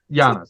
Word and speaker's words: Giannis: Giannis, yeah. Giannis, yeah. I said Janice for the first book or two, and then somebody explained the pronunciation in World, and I went, dang it.